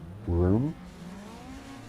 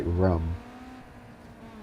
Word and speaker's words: room: So it's very common to say room. And this guy says room like he pronounces it rum.